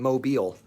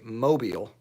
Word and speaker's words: Mobile: all the time so I live in Mobile Alabama where the emphasis is on the last syllable but a lot of people say Mobile Alabama which is wrong some people say Mobile which is really wrong